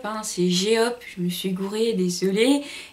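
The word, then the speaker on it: J-Hope: Et j'ai fait attention aux prononciations là. Donc c'est pas J-Hop, hein, c'est G-Hop.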